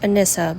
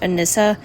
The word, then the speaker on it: Anissa: Her name is pronounced Anissa, by the way.